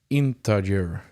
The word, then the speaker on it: integer: It's integer. I guess I'm pronouncing it wrong. Integer With a J.